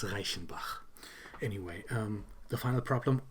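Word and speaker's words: Reichenbach: which is in Switzerland and um most people mispronounced that as Reichenback or something like that. It's Raichenbach.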